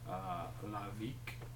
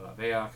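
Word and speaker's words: Lahveak: It is called Lavik, L-A-H-V-E-A-K. Or Laveak, I guess. It depends on who you're talking to.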